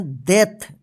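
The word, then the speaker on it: death: क्या पढ़ेंगे beer D ई ए टी एच इसको दथ नहीं इसको पढ़ेंगे दथ एच ई ए आर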